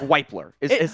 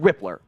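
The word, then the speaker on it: Wypler: myself it looks like it looks like wipler oh it does but it's pronounced rippler I just wanted to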